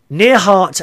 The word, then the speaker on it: Neihardt: Miss Kersigo's class, Kersigos class, near Hart Elementary School. Now I'll spell that for you.